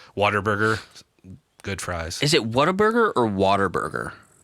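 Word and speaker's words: Whataburger: So, people's accents in the south have a little R there with a W. So, Waterburger. Go to Waterburger. So it sounds like water burger. It's what a burger.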